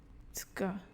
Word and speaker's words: Zucker: Die Aussprache von Z, which gives a TS sound. Zucker, Zucker, Zeit, Zeit, Zebra, Zebra.